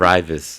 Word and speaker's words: Raivis: Ryus. Ryus. Okay. Yeah. Ryus. But where's that name from? It's Latvian.